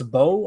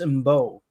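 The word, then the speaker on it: Mbow: Marcus, I've heard people say it's a bow. I've heard people say it's MBO. What are you guys saying? The M is silent.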